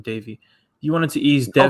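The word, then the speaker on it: Deivi: wanted to ease davey dev just keep saying davey you wanted to ease down okay wait bro apparent okay so apparently it is pronounced davey but when i heard cashman say it he said devi so it's like i just go devi because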